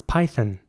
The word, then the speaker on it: python: Next word is Python, and in British English it would be python. This time the O is, like almost not pronounced, it's python. The python?